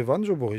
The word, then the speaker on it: voanjobory: sûr c'est pas au bout une bonne joubouri prononcer non ses ventes joubouri je répète c'est bien prononcé je dis ça